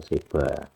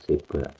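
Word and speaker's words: שבע: 7 Seva atau Seba. Jadi kalau kuno biasanya pembacanya dianggap B ya, Seba. Nanti modern pakai V karena dia bet tidak di awal, gitu. Biasanya dianggap dibaca V. Seva.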